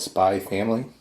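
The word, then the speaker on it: Spy × Family: I like the Anya Spy X Family. I've seen somewhere where you're not actually supposed to pronounce the X, it's just supposed to be called Spy Family.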